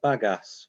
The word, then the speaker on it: bagasse: recycling but i've got a question uh about bagasse um yeah that's how you pronounce it but yeah yeah yeah if if